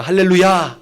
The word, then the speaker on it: 할렐루야: 하나님을 가장 영광스럽게 하자 라는 뜻이래요 그래서 우리가 할렐루야 할렐루야 여러 차례 얘기할때 할레루야 이렇게 발음 하셔야 이 뜻을 온전히 살려서 얘기하는 거예요